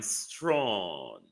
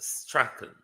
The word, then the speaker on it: Strachan: Your last name, sir, is quite a British name. It's pronounced Strachan. Strachan, sir, not Strawn.